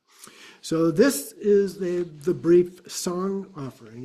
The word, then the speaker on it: sang: So this is the brief song offering. It's spelled S-A-N-G, but it's not sang, it's song in Tibetan pronunciation.